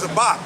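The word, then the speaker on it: זבח: It's Zabak. That's how you Zabak. That's how you pronounce it. There's no E in there.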